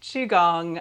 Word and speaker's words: Qigong: The spelling Q I catches a lot of us, especially if we're in the English-speaking world, but yes, Qigong.